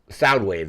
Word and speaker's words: Soundwave: It looks like it's Soundwave is how it's pronounced.